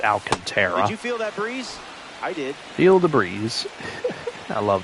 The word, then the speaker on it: Alcantara: Some pronounce it Alcantra, but I'm pretty sure it's pronounced Alcantara.